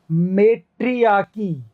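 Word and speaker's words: matriarchy: तो देखो मेट्रियाकी, आई के लिए ई, मेट्रियाकी, सही लग रहा है मेट्रियाकी।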